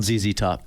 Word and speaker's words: ZZ Top: That's what they want it pronounced phonetically. Thank you. They wanted I'll call them ZZ top. That's what they want.